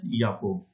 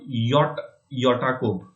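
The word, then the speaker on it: Jakob: Of English, we can say it as Jacob. So again, it's not Yakob, something like that is not there, right?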